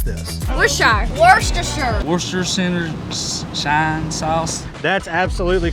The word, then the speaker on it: Worcestershire: We also set out to see if anyone actually knows how to pronounce this. Worcestershire Sauce.